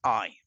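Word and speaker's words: 爱: crown yeah um and the way to pronounce his eye and when you spell out in using the English alphabet it is a i God is love God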